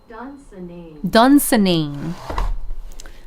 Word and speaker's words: Dunsinane: Pronunciation. Dunsinane.